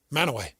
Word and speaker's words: Mantua: Wait, aren't you saying it incorrectly every time you just said it? Mantua? Mantua? How do you say it? Manaway. How do you say it? I think it's Manaway. It is. That's what we said. That's my hometown. Yeah, he's from there. That's how it's said.